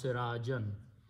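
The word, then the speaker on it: سراجا: or object that will change this to two fatas and end alif and pronounce sirajan.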